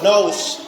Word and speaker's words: knows: Ini bacanya talk, talk, talks, no, knows. Ini nggak dibaca K-nya ini.